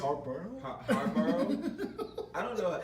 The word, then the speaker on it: Harbaugh: Harborough? I don't know how to pronounce Alexa, it. who's the head coach of the Baltimore Ravens? Baltimore Ravens coach is John Harbaugh.